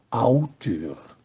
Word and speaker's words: autore: Fa eccezione auteur, autore, si pronuncia appunto auteur.